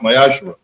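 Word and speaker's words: מעשר: Also in the book of Malachi, chapter 3, verses 8 through 10, which means the 10th in Hebrew and is pronounced Mayashra.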